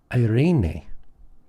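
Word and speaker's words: εἰρήνη: Next, we have irene. Irene. Notice the accent on the second syllable.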